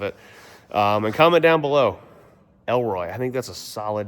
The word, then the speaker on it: Elroy: Did someone put Leroy on there? Elroy. Oh, Elroy. Oh, Elroy, like the letter L. Just L.